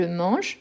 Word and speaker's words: mange: prononciation ok donc je mange je mange je mange tous les fois qui j'ai un e à la fin qui n'a pas d'accent je ne prononce pas je ne le